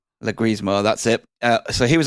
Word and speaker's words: Leguizamo: I can't pronounce his name right. Leguizamo, that's it.